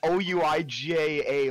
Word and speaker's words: Ouija: That's O-U-I-J-A. Like, why is that a thing? Why is that pronounced Ouija?